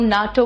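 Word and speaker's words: NATO: article D late है लेकिन अगर हम एन ए टी ओ नहीं बोलते हैं हम ना तो बोलते हैं हम यूनेस्को बोलते हैं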